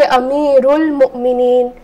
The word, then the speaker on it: Amirul Mu'mineen: So this Hamzatul Wasla is not pronounced. So I will just say Amirul Mu'mineen.